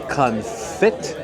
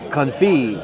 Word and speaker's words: confit: now I would say duck confit fit T right and then people will be in the comments like oh no no no it's duck confy the tea is silent right yeah I I I